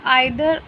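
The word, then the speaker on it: either: Next है आपका आइदर और या फिर ईदर और, दोनों तरह से प्रोनाउंस होता है ये.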